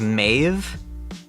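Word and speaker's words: Maeve: So, her name, if you were to pronounce it the way we speak today, is I believe Mave. M- Ae V. Uh, which is the angelicized version of her name.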